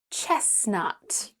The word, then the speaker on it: chestnut: Mortgage, and chestnut. Doesn't matter how you pronounce it, you still have to pay it though.